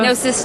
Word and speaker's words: Gnosis: Gnosis Chocolate.